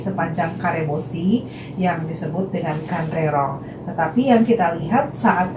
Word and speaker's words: Kanrerong: Jadi cara bacanya Kandrerong, ya.